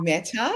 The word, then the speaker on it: Meta: And so for him to take my name, but it's actually meta, rhymes with data, metadata.